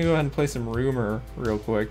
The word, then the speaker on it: RMR: So actually, we're gonna go ahead and play some Rumor real quick. That's how you pronounce RMR's name.